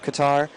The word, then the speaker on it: Qatar: No, it's it's it's technically supposed to be pronounced Qatar, but it's also just also not supposed to be pronounced like that because there's two letters in the actual name that just don't exist in the English lexicon.